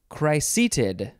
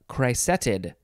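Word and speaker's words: cricetid: rhymes cheat sheet papa next is chryseeted chryseeted or you could say uh chrysetid yeah c-r-i-c-e-t-i-d chrysetid noun from 1960 any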